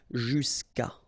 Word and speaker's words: jusqu'à: Normally what happens is that this final a will go away and then we'll put apostrophe. So that's the reason why we get this jusqu'à. Okay, and then phonetically, jusqu'à.